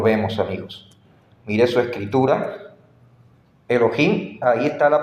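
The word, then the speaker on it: אלוהים: ahí dice me Elohim Pero de dónde me invento yo que eso se pronuncia Elohim Aquí está amigos noten que la aquí arriba dice transliterar más o menos Esa es la pronunciación me Elohim ahí en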